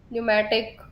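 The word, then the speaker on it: pneumatic: निमोनिया, नी, एन से शुरू हो, एन से साउंड आती है, पी साइलेंट रहता है आपका। साल, न्यूमेटिक, पी आपका।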